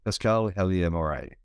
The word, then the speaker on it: Pascale Helyar Moray: So today I'm speaking to, I'm hoping I'll get the right pronunciation right here, but Pascale Helyar Moray.